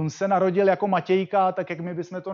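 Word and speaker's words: Matiegka: bude zajímavý tím že se vrátí k formě zápisu svého přímení podle svého dědečka od té doby se píše takhle ale Čte se to Matějka eh ten teda Krom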